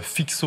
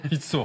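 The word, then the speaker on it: Fico: Il y a aussi Aurélien Duchesne, ce fameux Fixo, on m'a dit que ça se prononce. Fitso. Non, pas Fixo. Fitso, vous dites c'est ça. En fait, les C, ça se prononce de pareil en polonais, par exemple.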